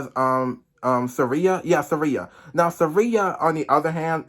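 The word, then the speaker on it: Tsireya: bass as um as Surya even though the t is silent and in life and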